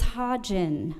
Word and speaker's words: Hodgin: to say it wrong it's hodgin with a soft G if it helps you